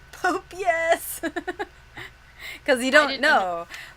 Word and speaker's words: Popeyes: Because I used to think Popeyes, the restaurant, was Pope Yes. Pope, yes.